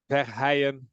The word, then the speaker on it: Verheijen: So the Verheijen, that's really spot on.